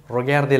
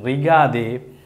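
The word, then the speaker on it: regardez: அப்போ இதை நீங்கள் ரிகாதே என்று சொல்கிறது சரியான உச்சரிப்பு பிழை. அது என்னென்றால் பாதி ஆங்கிலம், அதாவது ஒரு ஃப்ரெஞ்சு சொல்ல முன்பக்கம் வந்து ஆங்கிலத்திலேயும் ஃப்ரெஞ்சால் ஃப்ரெஞ்சு மொழியிலையும் வாசிக்கிறதான் இந்த ரிகாதே என்பது. அது சரியான உச்சரிப்பு அல்ல.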